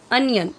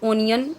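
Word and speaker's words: onion: Okay, सो mango, रोज़, lotus, potato, अनियन, इसे बहुत सारे लोग ओनियन बोलते हैं तो रॉन्ग है।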